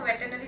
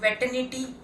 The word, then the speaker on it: veterinary: Many of the people call it veterinity.